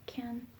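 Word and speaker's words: Cannes: how to pronounce it seems to be pronounced something like can that's what like wikipedia lists like the ipa 40.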